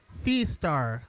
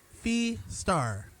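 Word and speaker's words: Fiestar: That is Fee Star, kind of like saying fiesta and star together. Fee Star, yeah, that was Fee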